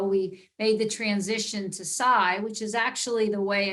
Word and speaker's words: SAI: some of you might still be calling us Sai and and a year ago we made the transition to Psy which is actually the way in which it's